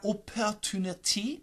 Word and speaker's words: opportunity: pronunciation opportunity opportunity but most Americans are going to take the second T and flap it opportunity opportunity tunity d